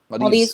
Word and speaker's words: Maldives: Maldives.